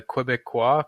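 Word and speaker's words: Québécois: Any thoughts on the Quebecois question? I wonder if I pronounced that correctly.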